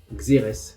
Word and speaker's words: xérès: Mais en français, on dit xérès, comme dans vinaigre de xérès, ou rérès si on prononce à l'espagnol.